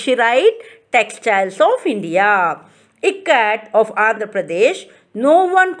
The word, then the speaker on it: Ikat: is showing the pronunciation i as i in it in it how do